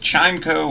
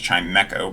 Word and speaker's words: Chimecho: ones up continuing on with chimeco or i believe it's actually pronounced chimecho but i never knew that uh it's probably a